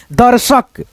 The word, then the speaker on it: दर्शक: जैसे यहां पे देखो द उसके बाद से रिफ की मात्रा का उच्चारण यहां पे द के बाद र आएगा दर्शक हर्षित हर शित हर्षित धनु उसके